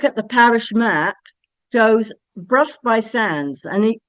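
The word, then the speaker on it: Burgh by Sands: A quick look at the parish map shows Bruff by Sands and it's spelled Berg by Sands.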